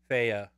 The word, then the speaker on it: Fe: And on February 16th, we have Faye. Faye, F-E is the name. Faya. And it's actually, what? I found out it's actually pronounced Faya.